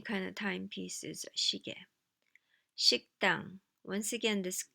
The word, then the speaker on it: 식당: 식당. Once again, this 그 sound in the previous syllable moves over here and makes the following consonant stronger, more tense. 식당, 식당.